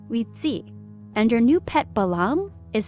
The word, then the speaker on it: balam: The word is actually balam.